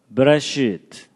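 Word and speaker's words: בְּרֵאשִׁית: 제가 발음이 별로 신통치 않지만 따라서 한번 해보시죠. 베레시트, 뭐 쉽게 그냥 베레시트, 바라, 엘로힘.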